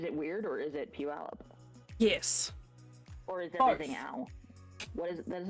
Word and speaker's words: Puyallup: large city named that it you pronounce it Puyallup but everyone who comes